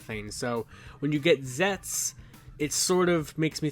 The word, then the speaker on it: Zeztz: when you see Z ZZ you're probably like zety zety you know something like that but from my buddy Matt and what the Kan Katakana says and everything or the kanji it's pronounced zets or zetsu now that sort of gives us kind of